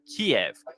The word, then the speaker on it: Kiev: and he will have Kev that's how you say it in Russian Kiev in just three days